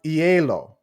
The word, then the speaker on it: hielo: The H is silent in Spanish. It's been so long since I did my Spanish lessons, guys. It's maize, but that's maize con hielo.